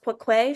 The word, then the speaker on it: Khoe: But she spells it like that instead of Quoque is spelled Khoe, Khoe, but because it's pronounced Quoque, she writes it the way that it sounds.